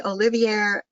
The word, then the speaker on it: Olivier: Joe is nominally Olivier Professor of Education. Did I pronounce that correctly, Joe? Yes. Olivier? Yeah. At Stanford University.